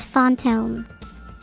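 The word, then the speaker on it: fantôme: In French, it translates to phantom, pronounced fonttome.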